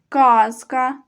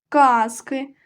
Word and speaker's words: казка: немає казки цікаві казки коли ми говоримо про однину про один предмет то наголошений перший склад казка казки А коли говоримо що багато то наголос падає на другий склад казки книжка не маю